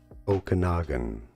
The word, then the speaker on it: Okanagan: Pronunciation. Okanagan. Okum. Isn't that what I said? Name pronunciation for more confusing names. Okanogan.